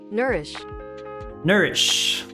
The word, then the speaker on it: nourish: Nourish. Let's see. Nourish. It's similar. Okay, I see the difference. Because I pronounce the O. Nourish. It seems like the O is actually ignored.